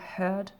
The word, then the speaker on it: heard: Attention à la prononciation du EA qui est différente. Au début, c'est hear et après, c'est le son heard, heard.